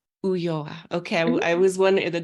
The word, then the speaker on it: Ulloa: It's pronounced Ulloa. Ulloa.